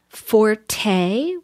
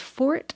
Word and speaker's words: forte: there's stuff like um Forte which I guess was originally pronounced Fort and now there are some people who steadfastly say Fort but then enough people have thought well you know it's got that e on the end it looks like it should be